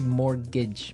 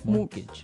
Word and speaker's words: mortgage: with a t yeah it has a t in it but you don't pronounce it you say mortgage mortgage so not mort mortgage